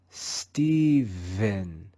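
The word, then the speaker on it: Stephen: the digraph p h we just learned in the word philip that the digraph ph is aspirated in this word we're going to read the digraph ph with our voice the sound will be let's read this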